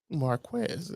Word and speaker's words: Marquez: It's Marquez.